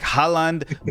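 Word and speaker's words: Højlund: HOJLUND. And you just leave the D off.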